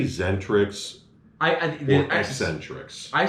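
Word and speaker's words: Xentrix: Do you say Zentrix or Eccentrix? I say, because I used to say Zentrix. I think it's the X is silent, so I always say Zentrix.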